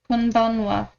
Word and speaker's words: こんばんは: Konbanwa. Can you explain why it's pronounced wa?